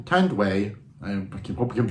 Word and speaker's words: Tanduay: I thought they were but uh no T tand way I hope you can pronounce it keep pronouncing it right um is